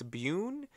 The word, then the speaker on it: Byun: I do appreciate that it is spelled with a U, a Y-U, instead of a boom. It's Bune. Bune.